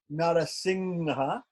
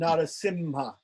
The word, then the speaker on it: Narasimha: It's possible, but like I said, the Anushwara is normally pronounced like the guttural nasal ng in North India, and normally it's pronounced like M makara, the palatal nasal. Sorry, the labial nasal in South India.